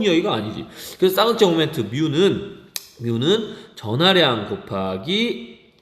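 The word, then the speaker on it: μ: 이거는 그리스어인데 뮤라고 읽어요.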